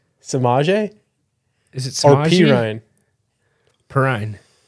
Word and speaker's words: Samaje Perine: Samaje Is it or Samaje? Perine? Perine. How do you pronounce it, Jordan?